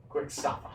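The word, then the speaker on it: Kuwksafa: it is spelled K-U-W-K-S-A-F-A. Ah. Quicksava. There we go. Spells just like that.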